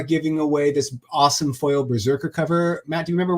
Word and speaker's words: BRZRKR: You gotta spell it correctly. It's all capital. It's Berserker, BRZRKR.